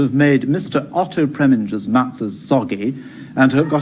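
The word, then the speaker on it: matzo: Otto Preminger's matzahs soggy and to have got away with it.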